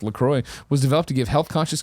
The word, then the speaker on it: LaCroix: Lacroix sparkling water, pronounced Lacroix, was developed to give health-conscious consumers refreshment flavor and a sparkle, blah, blah, blah, blah.